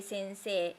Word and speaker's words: 先生: When the hiragana is A sound and E sound, sensei. we say sensei, sensei.